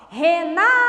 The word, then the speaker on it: Renata: for a mais forte o meu nome é uma palavra paroxítona Como eu disse na última aula Renata o na é tônico é a penúltima sílaba então é paroxítona e aqui que o